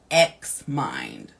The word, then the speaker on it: Xmind: Lastly of these gifts is apply an app called Xmind. All right. It's one word. It how it sounds is how it's spelled.